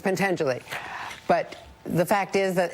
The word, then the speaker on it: Pentangeli: I did mispronounce it. It's Pentangeli.